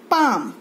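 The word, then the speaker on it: palm: क्या बोलते हैं इसको, पाम, पी ए एल एम, पाम. एल is silent, L की आवाज नहीं आएगी, इसको बोलेंगे पाम.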